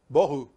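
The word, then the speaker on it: בהו: Bohu. That's how you say it in Hebrew. Bohu.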